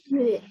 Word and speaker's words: Huế: How do you pronounce He that? loves in Huế.